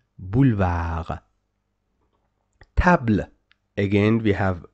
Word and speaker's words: boulevard: Don't say boulevard. No, no, boulevard.